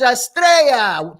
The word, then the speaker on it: Estrella: It's Estrella. Two L's make a Y sound.